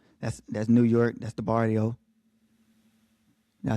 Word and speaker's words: barrio: That's the barrio. Did I say that right? You got to roll your R with that. The barrio.